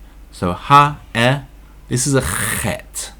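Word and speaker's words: ח: ha, this is a chet. Yudbet. Not sure if you're able to pronounce that or not, if you haven't learned or spoken Hebrew before. It's a ch sound, like Chanukah.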